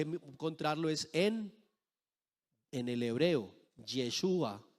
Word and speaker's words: Yeshua: Otros dicen que el nombre de Jesús está relacionado con el Dios griego Zeus. Entonces, que tampoco se debe pronunciar Jesús. Que nosotros debemos pronunciar es Yeshua.